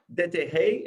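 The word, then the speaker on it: Déterre: Dete is how you pronounce it? Very well.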